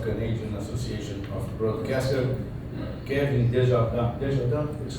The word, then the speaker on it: Desjardins: I don't know how to pronounce it half the time, so it depends on what company I'm keeping. But the R got rolled enough there that it's pretty close to how we pronounce it in French.